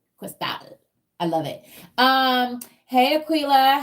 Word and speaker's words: Cristal: One of my favorite caviars is Cristal, and it's spelled like that. And you're supposed to say Cristal.